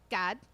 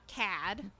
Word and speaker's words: Kad: it's God um his name is everywhere in pronounced God and not CAD my bad it is this is God this is Nana over all over good but